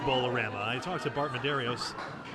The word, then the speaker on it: Bowlarama: at bowlarama in portsmouth apparently it is pronounced bowl of rama i talked to bart